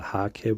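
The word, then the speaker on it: hake: that you can uh use is uh a heg brush or the haki brush as it's pronounced the japanese uh gauter brush um they're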